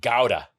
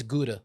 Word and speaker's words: Gouda: Apparently, Gordon's pronunciation of Gouda is actually more proper. It's like the proper way of pronouncing it in Dutch.